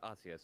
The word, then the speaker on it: Arceus: the title is formatted, Pokemon Legends, Arceus, or Arceus, I always pronounced it Arceus, but now they've codified it as Arceus, and I appreciate them doing that.